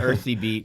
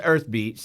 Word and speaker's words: EYrthbeat: want to call it earthy beet because the a is the it's like a y kind of but it's pronounced earth beats for anybody who's wondering